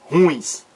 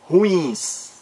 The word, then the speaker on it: ruins: E não é ruins. Errado. O certo, ruins.